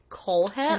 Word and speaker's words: Kohlhepp: to discuss the Amazon review killer Todd kohlhepp Cole head I know that's how you pronounce it because I watched like five documentaries